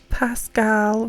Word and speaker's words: Pascal: what are we talking Pascal Rascal it's true they should rhyme where is the LIE